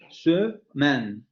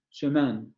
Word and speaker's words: semaine: Esa palabra se pronuncia semaine, semaine. Entonces, como es la primera sílaba, aunque aparezca en medio y aparezca después de una sola consonante, es la sílaba de la primera, es la primera sílaba de la palabra. Entonces, yo la puedo pronunciar ahí. Dice es común, ¿vale? No siempre, pero es común que se pronuncie ahí.